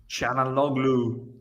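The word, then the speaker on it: Çalhanoğlu: Chanaloglu. Nice, I nice. think Yeah, that's how you pronounce it.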